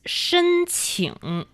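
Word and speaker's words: 申请: That is shēnqǐng.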